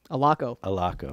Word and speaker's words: Allocco: Allocco.